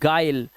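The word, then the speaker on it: guile: इसे पढ़ते हैं गायल।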